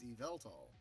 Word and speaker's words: Yveltal: Shock pause didn't have a problem with that pronunciation. Isn't that right? Yveltal? Oh, okay. It's Yveltal.